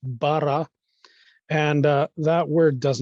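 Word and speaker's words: בָּרָא: Testament that word it's a Hebrew word that's pronounced Bara and uh that word does not mean created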